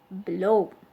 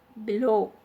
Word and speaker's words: below: in the same way below the stress is on the second part low below below okay and the next